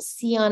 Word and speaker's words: Cyon: it and the uh Dion with the c stuck it seemed to work